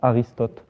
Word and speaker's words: Aristote: In French, it's Aristote.